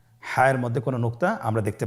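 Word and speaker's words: ح: হা হরফটি উচ্চারিত হবে কণ্ঠনালীর মধ্যখান হতে। গলা চিপে ধরে আপনি উচ্চারণ করুন। আপনারা আমার সাথে বলুন হ্যাঁ।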